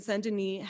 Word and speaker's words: Saint-Denis: for many, many years in Saint-Denis, or it looks like Saint Denis, if you read it in the English pronunciation.